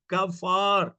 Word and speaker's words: कफार: कपा कपार नहीं, कफार, कफार। यस, कफार, कफार।